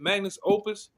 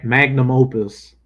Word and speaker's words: magnum opus: Magnus Opus. Yeah, magnum opus.